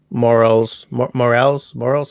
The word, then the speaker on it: morel: You know, like morels. How do you pronounce that in English? It is morel.